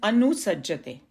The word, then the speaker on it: अनुसज्जते: It is from the verse, and the pronunciation is anusajjate.